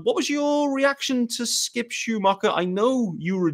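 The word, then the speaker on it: Skip Schumaker: about the managerial hire skip Schumacher that is the pronunciation by the way um according to Marla's Twitter as well there's obviously there was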